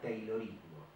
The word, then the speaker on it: Taylorismo: Y un método se escribe con A, Y, Taylorismo, pero se pronuncia Taylorismo.